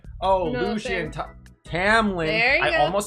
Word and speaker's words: Tamlin: Well, it was audio, so I heard it Tamlin every single time. I just keep on wanting to call him Tomlin.